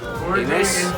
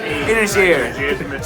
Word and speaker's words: Inisheer: In fact, it was Inisheer. That's how you say it. I've been reminded 20 times today. Inisheer.